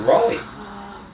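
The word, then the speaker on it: Raleigh: were Ollie's O'Reilly how do you say it Rolly Rolly those bikes anyway that's what I had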